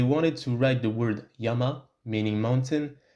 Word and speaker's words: yama: word yama meaning mountain, instead of using two Chinese characters, one for the sound ya, the other for the sound ma, they would simply use the Chinese character meaning mountain, but they would pronounce it yama.